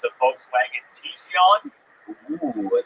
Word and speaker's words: Tiguan: It's a Volkswagen Tiguan. Ooh, a Tiguan.